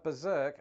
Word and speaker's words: berserk: linguistic structures that's why some Americans might also dissimilate the first R in words like Governor berserk and particular moving forward the governor